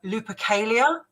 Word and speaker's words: Lupercalia: For instance, they feel that the earliest origin of Valentine's Day is the pagan holiday, and let's pronounce this right, Lupercalia.